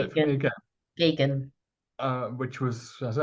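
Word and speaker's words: Geoghegan: Sorry, I'd forgotten how you pronounce his surname. Could you say it for me again? Gagan.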